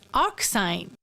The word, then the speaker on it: arcsine: be denoted like this it is pronounced as arcsine suppose we have a